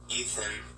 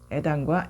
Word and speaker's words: Ethan: Ethan, 네, 에단인가요? 네, 아니죠. 이 TH가 번데기 발음이거든요. 번데기 발음이 좀 어렵죠. 에단과 이슨 발음이 많이 다르죠.